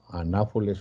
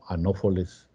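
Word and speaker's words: Anopheles: Por ejemplo, el anáfoles o anófoles, como ustedes lo quieran pronunciar, pues es un mosquito que produce la malaria o el paludismo.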